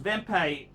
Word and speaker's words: Wempe: third watch then watch then watch is a wempe vempe pronounced vempei in a harsh drummond i know wempe they're